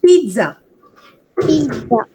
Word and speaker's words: pizza: pizza right telling it Pizza Pizza uh like uh imagine there is a tea okay we don't write tea but it's like we have to just bite our teeth while telling Pizza Pizza